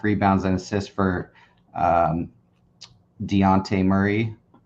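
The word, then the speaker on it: Dejounte: and assist for um Deontay Murray the Jay is silent I guess that's what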